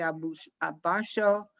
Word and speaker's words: abashó: Muy avergüenzado, el padre se abashó, Se abashó. abashó, There's an accent there, on purpose, because you should emphasize that syllable.